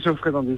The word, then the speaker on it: Jeoffrey Dandy: Est-ce qu'on prononce bien ton nom déjà ? Oui, Geoffrey Dandy, c'est ça.